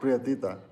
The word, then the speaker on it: prietita: Prietita.